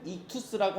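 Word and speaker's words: ΙΧΘΥΣ: 가진 단어가 바로이 단어예요 발음은 이투스라고 하는데이 그리스어 물고기라는 뜻을 갖고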